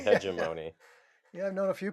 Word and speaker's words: hegemony: Hegemony. No, that was, you said it right that time. You didn't say Yeah, Pagamony or Hego, Hegemony, hegemony. Yeah, that's. uh, which is kind of like matrimony, except when it doesn't go well, Dana.